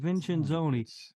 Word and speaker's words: Vincenzoni: Vincenzoni.